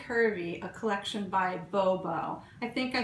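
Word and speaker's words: Bobeau: and it's by B curvy a collection by Bobo I think I said babo before but it's b o b e auau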